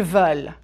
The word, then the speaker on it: veulent: But ils veulent is different. Prononcez, s'il vous plaît. Marc veut un café. Marc et Sabine, ils veulent 2 cafés. Veulent. You just need to open your mouth a bit wider.